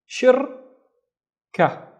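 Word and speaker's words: شركة: The first syllable is, we have a sha with a kasra, so it's she, shir, shir, and again this is a circle, not a dot, so this is ra with no vowels. Shirka, shirka, and shirka is a company.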